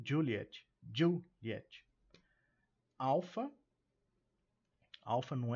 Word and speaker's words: Juliett: A gente destaca também a pronúncia do Juliet começando com esse D mudo, ok? Pronuncia-se sim, e não é Juliette, é Juliet. Juliet, com tônica na primeira.